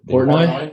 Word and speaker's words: Portnoy: Is that how you pronounce it? Portnoy?